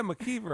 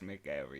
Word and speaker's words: McEver: He's like, yeah, McKeever. I was like, no, man, we don't say it like that. That's McKever. That's McEver, yeah.